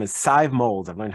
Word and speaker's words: Sadhbh Mowlds: now I want to welcome her name is Scythe molds I've learned how to pronounce it thank the Lord and I'm great